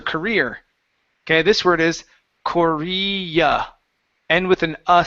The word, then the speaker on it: Korea: okay all right so at the end of this word this is an uh sound instead of an R sound so you said South ker right and career is what